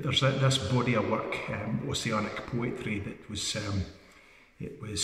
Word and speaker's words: Ossian: This is called Ossian, or Ossian as it's often called, but I think the Gaelic pronunciation is more like Ossian.